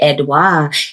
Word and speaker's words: Edouard: Without further ado, please welcome to the SelfWare and Nift podcast, Edois. Hey, how you doing today? Hi. I love that you pronounced my last name correctly.